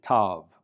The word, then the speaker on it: tav: And the final consonant of the Hebrew alphabet is tav, which makes a T sound, tav.